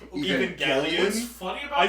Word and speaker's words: Evangelion: It's actually pronounced Evangelion.